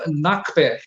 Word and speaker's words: Na Kper: Yeah, how you pronounce it? Nakper.